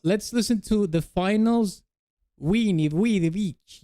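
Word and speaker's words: veni: Weni. I think it's pronounced that way in Latin. Weni.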